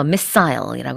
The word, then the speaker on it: missile: 우리는 미사일이라고 하지만 영어에서는 S 발음이 좀 강해요. 그래서 missile이라고 합니다. 자, 그 다음엔 to destroy a weapons storage site.